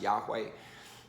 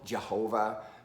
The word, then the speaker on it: Yahweh: The old Jehovah, that was a bad idea. That was a stupid idea as far as trying to figure out how to pronounce the tetragrammaton with the wrong vowels. That's all Jehovah is. Not a good reading. Yahweh is probably more accurate.